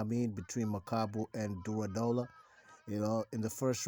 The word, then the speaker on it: Durodola: makabu WBC champion at Cruiserweight versus ol oranu durola I just know how to pronounce his last name durola now this fight